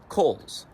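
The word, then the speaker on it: Cowles: name was Henry chander Coles spelled c-o-w-l-e-s but pronounced Kohl's Kohl's was born in Kensington Connecticut in 1869.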